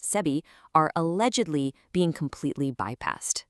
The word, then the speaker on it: SEBI: They highlight how guidelines set by SEBI, that is the Securities and Exchange Board of India, pronounced SEBI, are allegedly being completely bypassed.